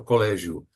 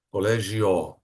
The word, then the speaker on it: colégio: por exemplo a palavra colégio Vocês não falam collegio né é o de tong ali você não vão falar collegio mas colégio né um usinho final aqui